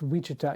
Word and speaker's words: Wichita: and then kansas um which is louisiana oh wichita it's wichita yeah it's i had to look up how to pronounce it um yes so they um we're